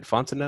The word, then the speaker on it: Fontenot: Did I say it right? Fontenot? Man, you said it perfectly. You can go ahead and be my cousin now. Fontenot.